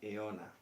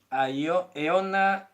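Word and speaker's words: αἰῶνα: Se pronuncia eona.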